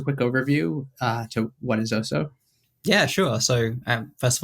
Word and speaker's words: Oso: Is that how you pronounce it? Oso, is that that's bear Exactly, yeah.